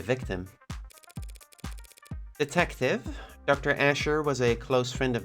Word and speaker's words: Asher: I've been pronouncing it like in the Hebrew way, Ashur, emphasis on the second syllable.